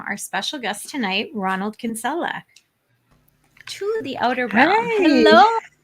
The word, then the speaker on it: Kinsella: demon please welcome our special guest tonight ronald kinsella to the outer brown hello how are you